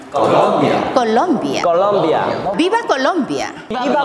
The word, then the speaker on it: Colombia: 자, 그런데 콜롬비아 할 때 강세가 중요해요. 그 나라의 이름이기 때문에 그냥 콜롬비아라고 하면은 뭔가 이상하다고 할 수 있습니다. 아, 외국인이니까. 자, 그런데 정확한 발음은 콜롬비아. 콜롬비아.